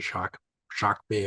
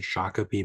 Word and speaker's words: Shakopee: And then I left in 2005 to go work with a Dakota language speaker at the Shock Bay and Bedewakantu Dakota community. Commonly said Shakopee Medwakaton, which is incorrect pronunciation, but I went to work there with the speaker.